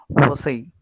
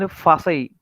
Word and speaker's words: Vasai: So here I cannot speak like this, Ich wohne in Fasai. Not like that. Okay, that Vasai is Vasai only.